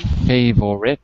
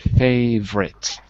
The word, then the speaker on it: favorite: But the other ones are good because you can really see that we drop the syllables, right? Not chocolate, but chocolate. Interesting. Not favorite, but favorite. Right.